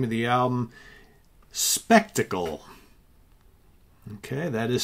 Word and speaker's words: Spektakel: band is also the name of the album spectacle okay that is spelled s is in sam p is in